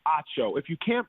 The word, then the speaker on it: Acho: When people say Emmanuel Acho, I'm like, Acho. No, Emmanuel Ocho? No, it's Acho.